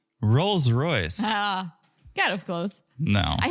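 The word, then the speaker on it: Rolls-Royce: So they get in this Royce Royals. Oh, No? not even close. So you said. Rolls Royce.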